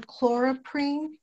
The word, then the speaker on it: chloroprene: I believe you were saying chloroprene, is that correct? Yeah, that's correct. That's how you say it.